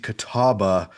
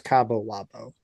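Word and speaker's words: Catawba: On Tuesday 11th, uh George Mason beat Kataba, a D2 school from North Carolina. That's how you say it. I thought it was Cabo Labo.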